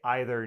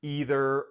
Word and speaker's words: either: find that in English, I'm going to say either neither, either, or either. And all of those pronunciations are fine to use.